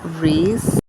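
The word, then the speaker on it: Rhys: Bridget and The Bodyguard who is rice or bris I don't know how the name is pronounced there's actually a guy named rice at school um I just looked it up it's actually ree which is really weird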